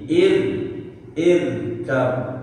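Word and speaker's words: اركب: di di waqaf jadi ir kam ma'ana. Nah, hukumnya pun beda. Kalau dibaca ir kam, jadi ro-nya ro tipis, bukan ro tebal. Ir kam ma'ana, ir, bukan il kam.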